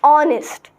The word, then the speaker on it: honest: not Hest Hest it's not not honest it's honest what is it honest so will you use